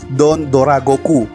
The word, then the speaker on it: Don Dragoku: menjadi don't Dora Goku tulisan itu don't trago ya guys cuman pelafalan Jepang itu don't Dora Goku jadi ini debutnya yang